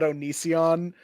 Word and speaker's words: Onision: I think the same way about Onision in a way. That's how you pronounce his name?